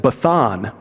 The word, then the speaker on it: Bashan: In fact, in the Canaanite language, Bashan, again, I'm not a Hebrew linguist, but I happen to be friends with one, so they pronounced it Bathan, different pronunciation, and Bathan means place of the serpent.